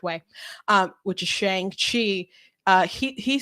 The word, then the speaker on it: Shang-Chi: And like, you're not saying it right. That's how Jim Starlin, the creator of the person who created it, said Shang-Chi. I could pull up an interview with them and he'll say Shang-Chi.